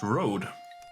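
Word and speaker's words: Rode: USB road should actually be pronounced road.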